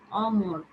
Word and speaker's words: অমর: হবে উচ্চারিত হবে না, একদম স্ট্রেট উচ্চারণ হবে অ। অনিয়ম, অমর, অনাশ্রিত, একটাও এভাবে হবে না যে অনিয়ম, অমর, অনাশ্রিত, এরকম কিছু হবে না। হ্যাঁ, এখানে অটা একবার অর মতো উচ্চারিত হবে।